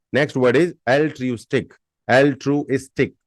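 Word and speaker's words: altruistic: आई टी Y next word is एल ट्रूस्ट L true इस्टिक L true स्टिक ए एल टी आर यू आई एस टी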